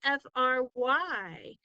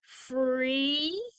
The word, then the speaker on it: fry: So would that make free, since the Y says the E sound at the end? Free? No. Why? Why does this word not say free? What rule did I forget to use? Yeah, so this one is the cry rule. This is only one syllable word. Fry. It only has one syllable. And in one syllable words, if you have a Y at the end, it makes the I sound.